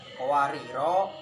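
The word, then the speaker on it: قَوَارِيرَا: Itu sifir itu jika kita wakaf pada qawariro, ro-nya itu nanti dibaca 2 ketukan ya, jadi matobi'i, maksudnya dibaca 2 ketukan.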